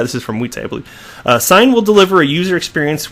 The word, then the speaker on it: Xign: I haven't heard enunciated, but it's spelled Xign, so I'm assuming it's Sign.